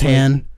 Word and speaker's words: Han: part where are you sure they in else's hand are you sure that it wasn't just like a mispronunciation like the Berenstein bears theme song pronounces